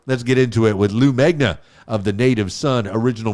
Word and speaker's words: Lou Megna: Lou Megna in the house. Did I pronounce that right?